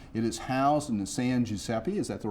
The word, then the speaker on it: San Giuseppe: If you'd like to visit the exhibit at the Mound, it is housed in the San Giuseppe, is that the right way to pronounce it?